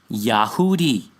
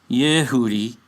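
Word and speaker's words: יהודי: which is iy in this instance So it's pronounced yahoodi not yehoodi And yes there is a massive difference because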